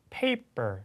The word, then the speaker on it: paper: 그래서 아니고 그래서 paper 이런 발음이 나는 거죠.